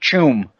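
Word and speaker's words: Tuam: is that the word the place is pronounced tomb but the spelling is ta um the missing children of tomb get yourself prepared if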